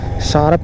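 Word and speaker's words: Tsarap: तो ये सारप नदी जो है, आप इंग्लिश में अगर इसको गूगल पे सर्च करोगे तो टी शार्प लिखना पड़ेगा, टी आगे लगाना पड़ता है जिसमें टी साइलेंट है।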